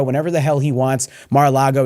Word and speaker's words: Mar-a-Lago: That's why he's fled to Florida, where he can stay at Mar-a-Lago whenever the hell he wants. Mar-a-Lago, excuse me. I know people get mad at me when I say it wrong, and now it's become a nervous tick.